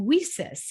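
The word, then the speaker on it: WiCyS: go by our acronym we sis it's w-i-c-y-s and we pronounce it we sis like we sisters because that's exactly what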